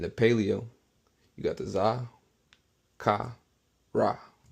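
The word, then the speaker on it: זכר: How you pronounce it is zakar.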